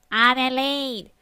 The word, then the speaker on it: Adelaide: Adelaide is not too bad, he said. I said, shush, it's pronounced Adelaide.